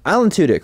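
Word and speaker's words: Tudyk: as a short film I felt about it Alan tudk right that's how you say his name he's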